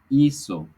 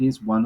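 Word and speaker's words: hizo: is changing is because the Z or the S are pronounced the same in Spanish so we say ISO usted so because of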